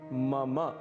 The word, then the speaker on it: मम: इसे मम बिल्कुल भी नहीं कहना है, इसका शुद्ध उच्चारण है मम। मम अंत में अ की ध्वनि अवश्य आनी चाहिए।